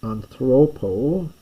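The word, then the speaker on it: ἀνθρώπῳ: We get anthropo. You don't pronounce it, but there's a little iota written down the bottom here.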